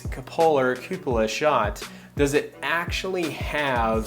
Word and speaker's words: cupola: a long time thank you i had always pronounced it coppola so i was like way off so cupola is how it's pronounced and so when looking